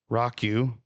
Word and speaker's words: Roque: It's Don Rocku. Rockyu is how you pronounce that.